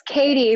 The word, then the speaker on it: Cattie: how I say it it's Katie but it totally looks like caddy some I've even gotten